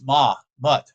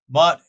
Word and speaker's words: Mut: the spiritual conception is ma mut sorry I'm start it wrong said it wrong mut and yaa mut in